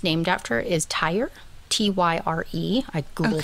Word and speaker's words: Tyre: Or Tyrian, I'm not quite sure, because the town it's named after is Tyre, Tyre. I googled how to pronounce it. Apparently it's just Tyre.